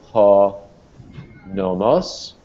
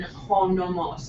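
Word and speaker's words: νόμος: Professor Morel, where's the accent in ho nomos? Is it on the first omicron or second? Okay, that's the difference. Ho nomos, okay, accent on the first syllable is law or convention.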